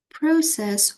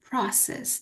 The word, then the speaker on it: process: suit for the ceremony process or process it has two pronunciations so process process a